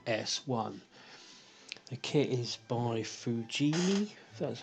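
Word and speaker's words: Fujimi: the lotus esprit s1 the kit is by fujini that's how you pronounce it on the side of the box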